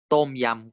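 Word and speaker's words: ต้มยำ: Tom yam kung.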